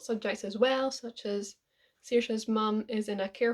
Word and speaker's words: Saoirse: So, your main characters, Saoirse and Ruby. Yes, I got her name wrong in one of my videos. I kept calling her Rosie, so I'm scared now.